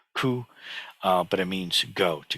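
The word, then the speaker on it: 去: Chinese which just means it's pronounced something like coup but it means go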